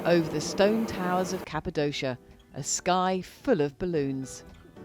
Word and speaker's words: Cappadocia: of our trip to cappadocia as i now know it's pronounced but if you missed part one when we called it cappadocia wrongly you do make sure